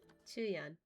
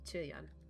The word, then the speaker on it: Qiuyuan: Qiuyuan. I gotta remember it's his, that's how you say his name. Qiuyuan.